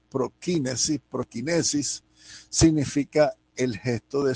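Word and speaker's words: προσκύνησις: griego y en latín la palabra en griego ya lo decimos que se pronuncia prokinesis prokinesis significa el gesto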